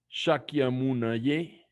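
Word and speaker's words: Śākyamuni: vamos a practicar con money money mark money sákyamuni suave el saque a mona y a veces lo pronuncian saca sákyamuni y el swag sánscrito veces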